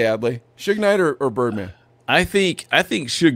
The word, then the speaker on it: Suge Knight: It's pronounced Suge Knight.